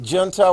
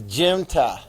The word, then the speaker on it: junta: If you want to pronounce it junta while you're taking the test quietly to yourself, you just do that. I got that one right. It's junta.